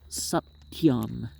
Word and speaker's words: Satyam: This name, Satyam, consists of 3 syllables, Sat, Te, Yam.